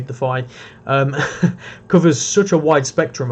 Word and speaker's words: Defy: The Defy ranged, or Defi ranged, I think is actually how it's pronounced, which just sounds wrong to me, so I say Defy.